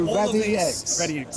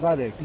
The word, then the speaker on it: RAD X: Nick, so RAD X, not radics. Not right.